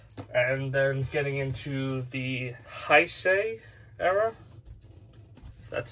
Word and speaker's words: Heisei: set of gamera and then getting into the heisei era that's how you say it i say